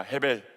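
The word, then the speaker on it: הבל: 헤벨. 네.이 헤벨이라고 하는 본문. 그래 가지고이 본문이 1장 2절을 그대로 읽으면 이렇게 발음을 하게 됩니다.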